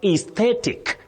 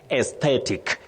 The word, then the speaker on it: aesthetic: Clinton Oloch of Kisii University, you can say aesthetic, aesthetic, but you can also pronounce the same word as aesthetic.